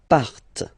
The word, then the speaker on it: partent: And the last persons, il, elle, partent. Remember, classic ending, E-N-T, but then you don't pronounce them, partent, partent, okay?